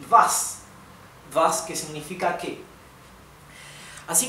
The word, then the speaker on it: was: esto es vi también Recuerden que la W alemana se pronuncia como una V española Sí y vas vas que significa qué